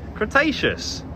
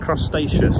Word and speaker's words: Cretaceous: Cretaceous. What did I say? Crustaceous.